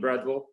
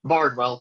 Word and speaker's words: Bardwell: This is Bradwell. Did I pronounce it correctly? Bardwell, B-A-R-D.